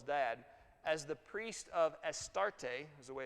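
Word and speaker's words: Astarte: eth Bale Jezebel's dad as the priest of estarte is the way it's pronounced a Canaanite goddess of fertility and reproduction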